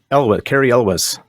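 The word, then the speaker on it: Cary Elwes: Carrie Elwes.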